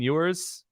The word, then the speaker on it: Ewers: I'm going to say Quinn Ewers.